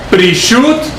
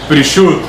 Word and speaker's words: Prishut: El primero es Prishut, y se escribe P de Pedro, R, I latina, S-H-U-T. Prishut.